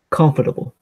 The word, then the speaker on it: comfortable: have this word I know this trick yeah comfortable comfortable what's the trick not comfortable comfortable or